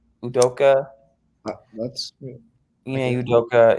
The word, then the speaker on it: Udoka: But Ime Udoka, the head coach of the of why am I blanking?